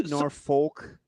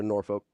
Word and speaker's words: Norfolk: at now are they Norfolk yeah cuz it's Virginia so Norfolk Norfolk I like what nor no you're exactly right well the way they pronounce it who's they nor